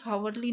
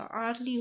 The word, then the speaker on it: early: तो यहाँ पे हावरली नहीं होगा, आर्ली होगा, ठीक है।